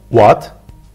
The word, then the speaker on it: What: hale gelmiş vasyon dayım sorusu soruyu doğru seslendirme telaffuzu vurgu ve tonlama üzerinde duracağız bu Lütfen dikkat ilk önce tek tek söyleyeceğim What What is your name What is your name